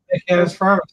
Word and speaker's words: Cantus Firmus: Cantus Firmus, is that how you pronounce it? Cantus Firmus. Yeah, you're right.